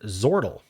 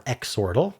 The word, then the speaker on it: Zortle: Suggested Zortle or Xortle, both pronunciations, according to the creator, are reasonable.